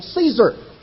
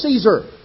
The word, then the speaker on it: Caesar: times, who was also Caesar. We pronounce it in English Kaiser, which was simply the Germanic pronunciation. Actually, the Latin pronunciation of Caesar was more like Kaiser.